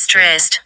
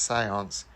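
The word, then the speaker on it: séance: it's not pronounced Stressed. It's pronounced seance.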